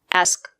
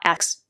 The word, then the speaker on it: ask: The word is pronounced ask, not ask.